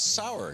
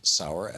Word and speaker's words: Sauer: But that's I tell people you pronounce it sweet and sour, but the gun is how you spell it.